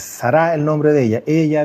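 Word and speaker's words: שרה: continuar quiero comentar algo Sara que en el fondo es sará el nombre de ella en hebreo no es acento en la primera a es al final es sará el nombre de ella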